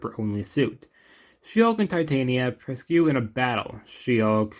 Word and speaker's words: Titania: Titania? I've heard both pronunciations, so I'll go with Titania.